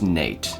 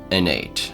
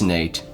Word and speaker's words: Nate: And it's pronounced Nate, not Anate. I know there's some of you Innate fans out there, but it's Nate.